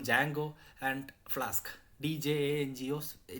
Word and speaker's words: Django: full stack app development there is something called Django and flask DJ and GEOS it's pronounced as Django Django plus flask these are